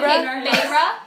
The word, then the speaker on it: Feyre: That's your Feyre. Feyre in like the form of Feyre.